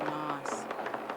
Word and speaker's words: Nass: And there is a river in British Columbia called the Nass River. And I believe the Tlingit people pronounce it Noss.